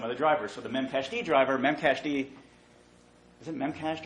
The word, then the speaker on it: memcached: So the memcached driver, memcached, is it memcached or memcached? Am I pronouncing it right?